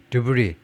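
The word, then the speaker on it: debris: deb Into The caribbean 그리고이 드브리 잔해를 발음하지 않고요 브리를 카리브해 에에로 보냈습니다 자네가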